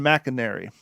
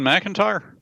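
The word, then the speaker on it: Macintyre: changed the nature of the war by Ben Mcinary and Random House audio. Is it Ben McIntyre? Uh, yeah. Sorry, it's spelled a little weird.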